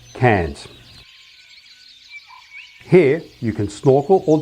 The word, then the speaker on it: Cairns: upstream then to cannes cans is primarily the reef part of any reef and rainforest combination with coranda and the danetry naturally being the rainforest part remember written like this but pronounced cans here you can snorkel